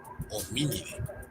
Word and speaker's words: Hominidae: En ambos casos se pronuncia como E.